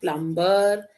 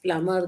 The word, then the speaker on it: plumber: Now it's not plumber, it is plumber. The B is silent.